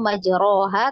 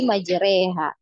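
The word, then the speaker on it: مجريها: bacaannya itu Ya kita bukan bacanya majroha tapi majreha tapi wallahualam mungkin ada dari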